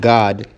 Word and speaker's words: Gad: the tribe of Gad, but it's pronounced God in the Hebrew, all right, which means troop.